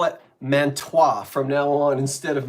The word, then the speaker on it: Mantua: So Mantua is spelled M-A-N-T-U-A. And I think I went a little too French with this pronunciation, so I called it Mantua.